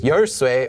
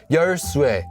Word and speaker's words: 열쇠: That's why yersue has two pronunciations, yersue or yersue, just so that it can preserve that alternate pronunciation of e, which is no longer in regular Korean.